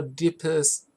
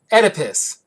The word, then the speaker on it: Oedipus: from dreams and libido to narcissism and or deepest audience complex or oh yeah like I know that term I know why I'm reading it and I'm mispronouncing it uh Oedipus Jesus yeah Oedipus complex you basically wanna ask